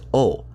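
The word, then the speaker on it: を: okay, that's fine, but why do I write this hiragana with the w in parentheses and tend to pronounce it as o? Well, the reason is I have only ever seen this hiragana used to write the particle o. While the hiragana ha and he are used in plenty of places outside of as particles, I have only ever seen o used to write a particle, so that's how I pronounce it.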